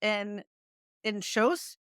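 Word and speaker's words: Inchauspé: which was written by Jessie in Shos, I think is how you say her name.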